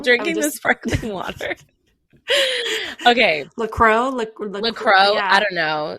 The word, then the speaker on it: La Croix: It's La Croix. That's how I say it. I think it is you right. Say La Croix.